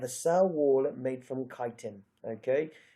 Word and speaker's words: chitin: and they have a cell wallet made from kiten okay not from chitin or however else people won't pronounce it it's kiten protoctista it's just one thing you have to